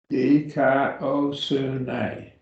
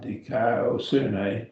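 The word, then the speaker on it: δικαιοσύνη: Just break it up into the syllables and pronounce them slowly. And then speed yourself up and you'll get it. Dikaiosune. Dikaiosune. And raise it up over the upsilon because that's where the accent is.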